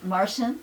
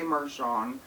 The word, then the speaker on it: Marsian: a martian it's true that's how you pronounce my name martian yeah okay that's good to know i mean some people say marshawn i remember you because